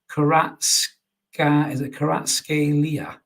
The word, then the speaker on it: Kvaratskhelia: Oh, Gibbo has gone right phonetically there. So it's Kvaratskhelia.